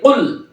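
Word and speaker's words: قل: ও কুল, এই কর উচ্চারণ দেওয়া ছোট কফের উচ্চারণ আমরা করে ফেলি, কিন্তু অর্থ দারুণভাবে নষ্ট হয়ে যাবে। কারণ বড় কফ দিয়ে কুল, আল্লাহ পাক বলছেন হে রাসূল আপনি বলুন আল্লাহ এক।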